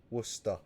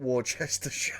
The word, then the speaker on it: Worcester: Worcester. Like wuss as in you wuss and then t worse. Not Warchester. Oh, Warchester.